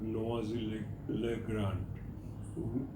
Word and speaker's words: Noisy-le-Grand: He guided me how to go to a place called Noisy-le-Grand. That is where French pronunciation goes. Spelling is noisy, Noisy. French people spell it as Noisy. Pronounce it as Noisy, which is about 90 kilometers away from the airport.